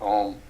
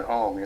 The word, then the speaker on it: Om: a little bit about Om, and I saw something about how it's actually pronounced. It's an A sound, a U sound, and then an M sound at the end, and I had never realized that.